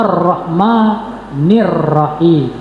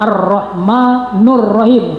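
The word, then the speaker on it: الرحمن الرحيم: semesta alam itu bersifat arrahmanirrahim. Arrahmanirrahim. Awas jangan keliru. Ada yang terdengar kalau membaca entah terdengar ba oleh kita apa memang ucapannya itu. Kalau ucapannya itu salah arrahmanurrahim itu salah arrahmanirrahim.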